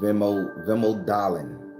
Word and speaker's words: vemodalen: It's called vemodalen.